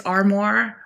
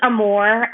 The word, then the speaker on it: Armour: It's Armore. Pronounce Amore. Um, my husband is a New Orleian. Um, so his French Creole last name pronunciation, but Armore Amore just depends on where you come from, how you pronounce it.